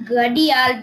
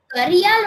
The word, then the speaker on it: Gharial: So, da and ra are used interchangeably in North India. So, it's written depends with on the accent. R. It's written with R, but it's often also spelled with a D. But in English, R is the accepted, more accepted spelling.